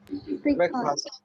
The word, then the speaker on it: breakfast: Breakfast. Breakfast. Breakfast. Breakfast. Is it fast? It is not fast. Breakfast. Breakfast. Yes. Now you people are getting it. Is breakfast. What is it? First, not fast.